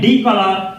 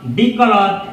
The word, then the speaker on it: decolor: ये शब्द भी सही है, ये भी सही है, दोनों का प्रोनाउंसिएशन सेम होता है, दोनों को पढ़ा जाता है डीकलर। डीकलर, और दोनों शब्दों का हिंदी मीनिंग होता है रंग हटाना।